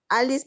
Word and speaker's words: alis: Fíjate, es una palabra muy pequeñita que tiene 3 sílabas. Primera sílaba, a. Segunda sílaba, li. Última sílaba, lis. Is, perdón. Entonces, si se fijan, la sílaba li es la penúltima, no tiene marca de breve, digo de larga, por lo tanto, la acentuación que la hizo muy bien María José, se va hasta la A, y ahí leo Alice, Alice, ¿sí?